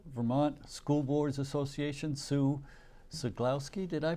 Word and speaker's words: Ceglowski: director of the Vermont school boards Association Sue sulowski did I pronounce that right you did and uh FL